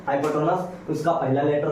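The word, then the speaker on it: hypotenuse: आपको कर्ण को h से डिनोट किया जाएगा कभी नहीं, हमेशा नहीं, ताकि इसका अंग्रेजी बोलते हैं, इसका उच्चारण करते हैं हाइपोटेनस, उसका पहला लेटर हो गया।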